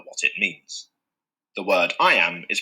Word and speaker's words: iamb: way to remember what it means the word I am is pronounced just like the phrase I and now